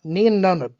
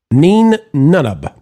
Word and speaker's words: Nien Nunb: Uh Nien Nunb. Nien Nunb. Yeah, some some people pronounce it nine even though it was pronounced or it was spelled n i e n, but I think that's